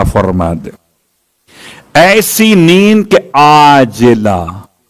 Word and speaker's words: عاجلہ: ایسی نیند کے عاجلہ، وہ جو آپ کہتے ہیں معجل اور معجل عین کے ساتھ، یہ عاجلہ عین سے ہے. ہو سکتا ہے میرے تلفظ میں آپ کو واضح نہ ہوا ہو، اس لیے میں نے کھول دیا.